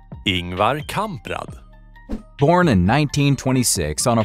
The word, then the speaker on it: Ingvar Kamprad: We went through the same debacle, and according to Wikipedia, this is how it's done. Ingvar Kamprad.